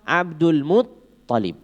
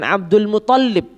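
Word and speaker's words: عبد المطلب: nama panggilan yaitu siapa Abdul muutalib bukan Abdul Muthalib sebagaimana banyak terdengar bukan Abdul Muthalib tapi mutalib ya tasjidnya di th bukan di lam ya karena saya beberapa kali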